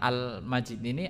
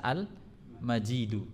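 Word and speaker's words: المجيد: yang yang mulia nah almajid ini ada yang ada dua penafsiran ya cara bacanya sebagian qiraat ada yang membaca almaji di Sebagian ada yang baca Al majidu kalau almajidu kembalinya ke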